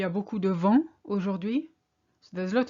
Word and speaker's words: vent: And then I realized they mispronounced the vent with, they pronounced the T, they put an E on the end. So I heard vente, sales. So really be careful with that vent, wind, vente, sales.